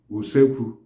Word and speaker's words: usekwu: The kitchen itself is called in Igbo usekwu, uleekwu. Usekwu is spelled as U-C-A-Q-U.